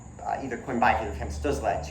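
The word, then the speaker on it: Stützle: Well, when he comes to America, everyone's gonna his name is going to change from Tim Stutzle, which is how you're supposed to pronounce it, to Tim Stutzel.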